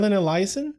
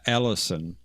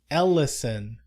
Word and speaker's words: Ellison: Haron Elizen. Is that not how you pronounce his last name? Ellison. Ellison.